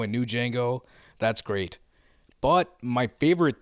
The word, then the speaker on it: Django: of thing or like the D is silent that scene between Frank Nero OG Jango and new Django that's great but my